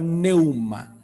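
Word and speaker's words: pneuma: ¿A qué le suena la palabra neuma? Bien pronunciado sería algo así como neuma, a neumonía.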